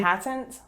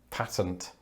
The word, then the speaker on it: patent: might want to take out a patent a patent patent i know this one is a bit like